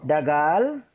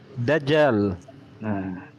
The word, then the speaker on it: Dajjal: Kita lihat, ya, dagal, degel, dalam bahasa Arab. Itu bacanya apa, Bang Ali? Bang Ali coba dibacakan. Dajjal. Lu mau baca kiamat. Oh, nggak apa-apa. Nah. Dagal, ya. Dalam bahasa Arabnya apa? Dajjal.